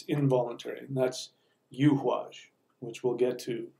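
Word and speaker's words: Eihwaz: And so people pronounce it Awaj. It's not Awaj. We just no longer have the letter, which is what the Yuhwaj rune is. We no longer have the letter for the U sound. So I believe that it's Yuhwaj. And I pronounce it Yuhwaj because it's the yew tree.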